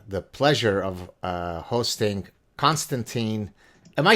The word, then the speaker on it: Konstantin: pleasure of uh hosting constantine am i saying it right is it constantino custom and french would say constantine but how would you